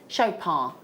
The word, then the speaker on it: Chopard: Now do you pronounce the D on Shop? Shopar you know the really f famous really high-end jewelers.